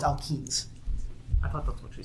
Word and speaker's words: alkenes: Alkanes. Say again? Alkanes. Can you spell that? ALKANES. No, it's alkenes.